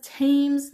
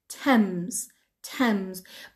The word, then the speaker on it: Thames: منظور ما پس تیمز نیست، تمز. TH داره اولش، پس منظور همون دریاچه هست توی لندن. تمز. The river Thames, رودخونه، ببخشید. Thames, T-H-A-M-E-S, okay? تلفظش هست Thames, okay? مثل کلمه 10 به عنوان 10, 10, ولی اینجا م داره.